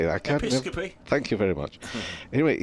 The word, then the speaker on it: Episcopi: I can't Episcopi.